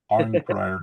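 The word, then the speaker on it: Arnprior: I always wondered how you pronounce that. Thanks for clarifying. I'm Pryor, yeah.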